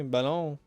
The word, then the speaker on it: ballon: Let's start pronouncing ballon like salon, but we replace the S with a B. Ballon.